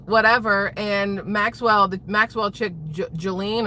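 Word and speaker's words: Ghislaine: And Maxwell Maxwell chick Jelene or Jillian or however we're supposed to call her. Not Jlane even though that's how it's spelled.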